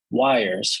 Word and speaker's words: Yrs: Why the YPy package, that is the CRDT backend client, is actually a wrapper around wires, which is spelled YRS, which is the Rust implementation of the YJS CRDT wire protocol.